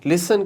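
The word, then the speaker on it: listen: जैसे लिसन, लिसन के अंदर जो T है दैट इज़ योर साइलेंट। तो आप यहाँ पे क्या करेंगे, लिसन की साउंड दे देंगे, ये T आपका उड़ जाएगा, लिसन।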